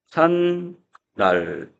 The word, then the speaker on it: 제삿날: 이거는 제산날. 자, 이렇게 니은이 하나가 덧났고요.